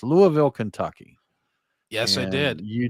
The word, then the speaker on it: Louisville: Well, Brian, speaking of your vacation, you went to Louisville, I believe, is the way it's supposed to be pronounced. Louisville, Kentucky.